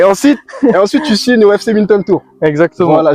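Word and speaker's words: Winterthur: tu signes au FC Minton Tour. Exactement. Voilà, je l'ai bien prononcé Winter parce qu'il y en a beaucoup qui se moquent de moi quand je l'ai prononce les gars. FC Vinter Tour.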